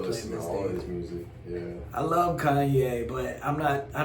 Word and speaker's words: Ye: It's not Ye, it's pronounced Ye. Yay.